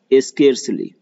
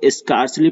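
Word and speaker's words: scarcely: फिर hardly, स्केर्सली, देखिए इसको स्कार्सली पढ़ते हैं बहुत से लोग, वेरेज इट इज स्केर्सली, इसलिए मैं इसका प्रोनाउंसिएशन भी लिख दिया।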